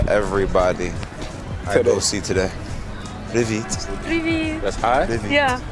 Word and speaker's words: Привіт: Привіт is hi. Привіт. Привіт? Привіт. I'm going to be saying that to everybody I go see today. Привіт.